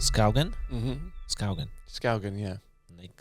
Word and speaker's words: Skaugen: people go Skaugen or something like that, but no, Skaugen, yeah.